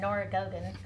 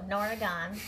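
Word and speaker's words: Norah Gaughan: I've been calling her Nora Gogan, and they said the G is silent. So Nora Gahn, and she has great patterns, and I really enjoyed doing this project.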